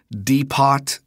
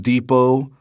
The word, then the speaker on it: depot: something about trains and you said deot instead of Depot she wouldn't let anybody